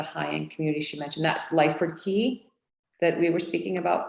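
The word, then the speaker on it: Lyford Cay: name of the high-end community she mentioned that's lyford key that we were speaking about before and that's spelled l-y-f-o-r-d-c-a-y yes correct and um how how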